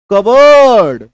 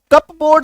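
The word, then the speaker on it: cupboard: ओ ए आर डी लोग क्या बोलते हैं इसको कब बोर्ड बोलते हैं लेकिन इसका सही उच्चारण क्या है कबर्ड क्या उसका उच्चारण है सही कबर्ड इसको कप बोर्ड नहीं बोलेंगे अब कोई कई लोग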